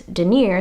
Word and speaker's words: denier: abrasion resistant fabric and how I remember to pronounce that is denier sounds like Robert De Niro so the tiki design